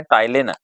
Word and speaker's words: टाइलिन: दूसरा नाम होता है टाइलिन। सलाइवरी एमाइलेज जब वो स्टार्च को किसमें चेंज कर देती है, ग्लूकोज में। सलाइवरी एमाइलेज, इसको टाइलिन कहते हैं, पी इसका साइलेंट होता है, इस तरह से पढ़ते हैं।